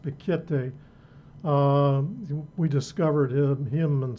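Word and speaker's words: Piketty: serious issue in Thomas I believe it's pronounced pikete we discovered him him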